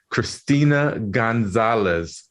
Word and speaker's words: Cristina Gonzalez: And I'd like to welcome our very special guest all the way from Mexico, Christina Gonzalez.